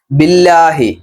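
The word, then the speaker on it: بِاللّٰهِ: ചോദിക്കുന്നു എന്ന ക്രിയ രൂപപ്പെട്ടിരിക്കുന്നത് ബില്ലാഹി ബി കൊണ്ട് അള്ളാ പ് അങ്ങനെ ചേർത്ത് പറയുമ്പോൾ ബില്ലാഹി കിസർ വന്നു കഴിഞ്ഞാൽ ല എന്ന ഉച്ചാരണമാണ് നമ്മൾ ബിസ്മില്ലാഹി ബിസ്മില്ലാഹി എന്ന് നമ്മൾ പറയില്ല ബിസ്മില്ലാഹി അതുകൊണ്ടാണ് അള്ളാ പ്ലസ് ബി ബില്ല ആ ഉച്ചാരണത്തിലേക്ക് വരുന്നത് നമ്മൾ ചെറുപ്പത്ത മദ്രസിലൊക്കെ പഠിച്ചിട്ടുള്ളതാണ്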